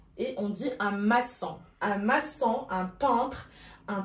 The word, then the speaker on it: maçon: Avec un CCD pour ne pas prononcer macan. لكي لا يتم نطق le C que. Alors, ça n'a d'aoul la C dit تحت C et on dit un maçon.